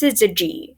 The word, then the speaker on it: syzygy: I think it's pronounced syzygy.